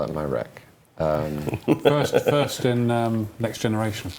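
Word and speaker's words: Myreque: It's a reference to the Marquis from the French Resistance, who, not spelt like that, obviously, but it's spelt Myrarchy to sound like Marquis, but be in a mire, a swamp.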